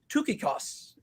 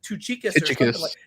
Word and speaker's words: Tychicus: look it up and in greek it's pronounced tookikos and so i guess